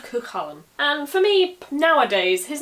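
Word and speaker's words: Cú Chulainn: The Cu is Cu because the U has a fada on it, and the Chalan is just the personal name Cullen, but put into the genitive so it becomes ch instead of k, like loch or bach.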